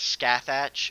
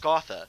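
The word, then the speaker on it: Scáthach: I always remember reading it as Scathach, and I was like, that's a weird name. But then I like looked it up, and it's like it's pronounced Scotha, and it's like, oh, that's much better than Scathach.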